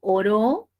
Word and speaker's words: oró: y tendría un valor si yo digo oró sí de orar cierto claro o sea es